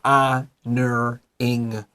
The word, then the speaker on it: honoring: No H. Look at your H, cross it out. 你就是画一个叉叉, and then honoring the O-R, fa, E-R, honoring. Honoring.